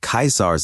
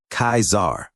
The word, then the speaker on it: Caesar: after hearing the Spy pronounced Lord kaisar name like a dissolute instead of the correct pronunciation of the word being kaizar just before the impostor